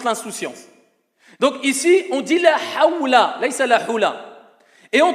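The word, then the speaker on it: لا حول: La hawla, ce n'est pas la hula.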